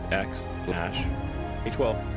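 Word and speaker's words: X Æ A-12: Its correct pronunciation is X, Ash, A12, where X represents an unknown variable and Ash is the AI elf language.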